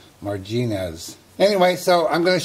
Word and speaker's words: Marginez: the right spot but the correct spelling is tuffy marginas like marjoram kind of weird i don't